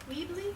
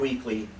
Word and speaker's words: Weebly: Can you spell that website, Cinema Circus Weebly? Weebly, not weekly, W-E-E-B-L-Y.